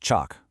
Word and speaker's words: CHOCH: Next is CHOCH, pronounced chock, which stands for change of character.